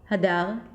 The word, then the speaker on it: Hadar: So for example, when I say my name, Hadar, in Hebrew, then for me it's very clear that the primary stress is on the second syllable, but the way I'm